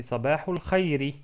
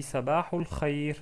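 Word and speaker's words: صباح الخير: Donc, on peut prononcer Sabahul Khairi. Sabahul Khairi. Mais ceux qui parlent l'arabe d'une manière excellente, bien sûr, il s'arrête sur une soukoun. Donc, on dit Sabahul Khair.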